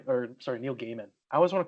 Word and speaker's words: Gaiman: lot lots of uh Neil G or sorry Neil Gaiman I always want to call it Gman but it's it's his pronounced G uh Neil giman like audio books too that's yeah um a